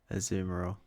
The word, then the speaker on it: Azumarill: I say Azumarill, as opposed to. Well, the thing is that Yeah, is that it's pronounced. Oh, it is Azumarill. Azumarill. Yeah, like Azumarill. So like a softer A, not like the A.